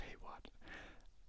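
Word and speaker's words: Hawat: I believe his name is pronounced Heytwat. I don't remember if his name how it's pronounced in the movies, but I've always read it like that.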